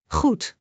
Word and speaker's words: goed: The Dutch word goed means good in English. Let us break it into syllables and understand its pronunciation correctly. In goed. G is a soft throat sound. Like clearing your throat gently.